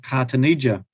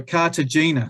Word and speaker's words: Cartagena: this Port over here called cartonia and uh sorry Cartagena sorry I spelled said it wrong and and these were